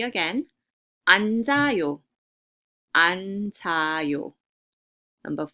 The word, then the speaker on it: 앉아요: So it's pronounced as 앉아요, 앉아요. So with resyllabification, the first final consonant stays at the bottom, right? And the second final consonant, it shifts to the next syllable that starts with the vowel.